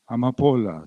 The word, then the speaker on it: amapolas: Amapolas, amapolas, say it slowly. Amapolas. Accent on the penultimate syllable.